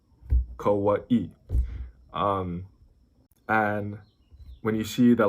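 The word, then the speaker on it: Kauaʻi: So if you see the apostrophe looking thing, that's called an okina. It's considered a letter in the Hawaiian alphabet. So it's always going to be between two vowels, and it's a break between the vowels. That's why, like, Molokai, Kauai.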